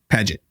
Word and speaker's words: Paget: how I watched the videos said they say Paget. Paget. Yeah. Paget. That seems like an American way to say it. But either way, the Paget. But that's how report, the British say it. That's how the guys say it.